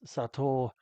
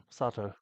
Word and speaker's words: Sato: the red shirt um I was actually pronouncing his name wrong when we did this it's sat and not Sato sat means salt plenty more bumpers where